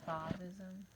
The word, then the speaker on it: Fauvism: Some people pronounce it as Fauvism, but I like to say Fauvism.